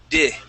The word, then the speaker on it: did: Okay, here you had said did, okay, using an E sound. Okay, in English we use a short I and we say did.